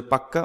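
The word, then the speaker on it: pukka: ইট ওয়াজ এ fairly large পাক্কা house, এটার উচ্চারণ হবে পাক্কা, মানে পাকা বাড়ি ছিল, এবং ফেয়ারলি লার্জ মানে মোটের ওপর বেশ বড়ই বাড়ি ছিল।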